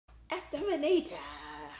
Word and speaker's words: Esther Manito: Esther Manito.